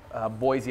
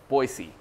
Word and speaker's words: Boise: I'm sorry, I'm mispronouncing it. Everybody there pronounces it Boise. Boise, okay, that's Boise.